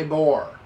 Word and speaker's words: LIBOR: read that to you one more time lie libor l-i-b-o-r that's how you spell it scandal could turn ugly as u.s cities